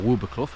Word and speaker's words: Wildboarclough: Um, I'm parked up at Wild Blo car park or one of the Wild Ball Club car parks. Um, or Wubercuff as I've been told it's pronounced by locals.